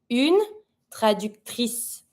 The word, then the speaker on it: traductrice: I pronounce the R. Traducteur, une traductrice.